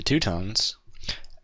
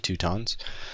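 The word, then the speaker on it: Teutons: and I'm playing as the tuttons or the tuttons some people like to pronounce them that even though I'm pretty sure it's the two tons but um they they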